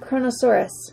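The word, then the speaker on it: Kronosaurus: this one oh how am I going to pronounce this one camera mom go ahead and say it for me chronosaurus you make it sound easy okay Chrono hey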